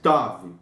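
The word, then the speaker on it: תו: O Tav, ele é o T surdo, como você fala tenho, ó, tenho, é o Tav, tá? O Tav, sem o ponto dentro, pode também ter sido pronunciado como TH em inglês, que é o this, por exemplo, né?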